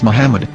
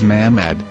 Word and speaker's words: Muhammad: According to Ben Yehuda's Hebrew English Dictionary, it is correctly pronounced as Muhammad, not Mamad. So how we're going to know for sure if it's pronounced as Muhammad, the Muslim prophet, or